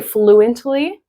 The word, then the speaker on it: fluently: So you could say fluently pronouncing all the consonants. um in careful speech, but because there are three consonants together in this word, the middle one can disappear in fast speech, right?